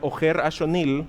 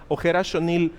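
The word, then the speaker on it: Ojer Axonil: That is why Ojer Ashonil, that's how you pronounce it, Ojer Ashonil has all these elements that are symbolic, because gods are shapeshifters, right?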